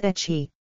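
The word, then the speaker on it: ecchi: to H and that the English pronunciation was etchy referring to ludis and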